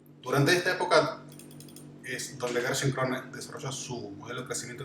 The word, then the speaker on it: Gerschenkron: Para empezar con su apellido solamente, su apellido es fácil de pronunciar, es Gerschenkron. Gerschenkron.